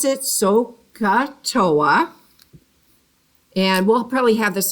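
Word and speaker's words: SOHCAHTOA: why we have these initials here uh we pronounce it soca toa and we'll probably have this on the board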